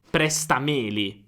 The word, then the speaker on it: prestameli: Quindi se presta rimane presta, allora Meli non ha un accento.